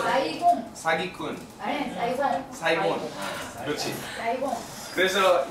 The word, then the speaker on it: Saigon: 한국 발음 어떻게 해요? Saigon. 야, 사이곤 하지 않아요? 사기꾼. 사이곤. 사기꾼. 아니, 사이곤.